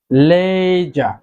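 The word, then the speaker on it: ledger: লেজা, লেজা অর্থ খাতা, এখানেও ডি লেটারটি সাইলেন্ট থাকবে, ডি এর উচ্চারণ এখানে হবে না, লেজা, খাতা।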